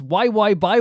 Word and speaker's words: YXY: She was part of the third subunit alongside uh Eaves Eve, Shu, and Yu called YXY, pronounced Y by What?